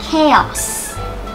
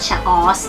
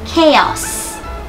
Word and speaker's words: chaos: ะ ไ ร อ่ า น ว่ า chaos ไ ม่ อ่ า น ว่ า chaos น ะ ค ะ chaos ค ำ นี้ เ ค ย ไ ด้